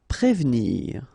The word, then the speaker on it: prévenir: Prévenir, okay, remember that first you've got this accent aigu on the top of e, so here it's e, okay, and you don't insist on this here, so prévenir, prévenir.